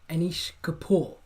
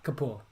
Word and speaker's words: Anish Kapoor: The sculpture is the Orbit, and it was designed by artist Anish Kapoor. So your spelling doesn't have to be great, but Yeah. Kapoor.